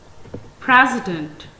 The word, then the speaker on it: president: It has three syllables. First syllable has primary stress upon it, as it is pronounced more clearly. Second syllable is unstressed, and the third syllable has a secondary stress upon it.